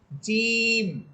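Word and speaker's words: ج: অনেকেই দেখা যায় জিম হরফটা এভাবে বলে জিম ঝিম ঝিম বলে বাতাস বের করে দিয়ে বাতাস বের করা যাবে না। বরং বাতাসটাকে আটকিয়ে শক্ত করে বলবেন। জিম জিম এভাবে আচ্ছা ঠিক আছে।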